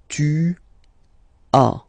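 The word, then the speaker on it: tu as: one to a okay as usual in French final s is not pronounced to a to a okay first one J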